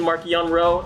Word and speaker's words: Marchion: on whom you ask marcion rowe has always been mark yanrow amongst the project luminous authors who discussed the issue extensively before deciding on marcion during those conversations the